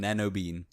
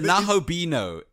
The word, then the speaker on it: Nahobino: Am I saying it wrong? I'm gonna start calling him Nanobean. It's the Nahobino, and that's not his name. That's his race. He is a Nahobino.